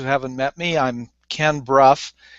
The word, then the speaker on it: Brough: I'm Ken Brough. It sounds like B-R-U-F-F. It's spelled like B-R-O-U-G-H.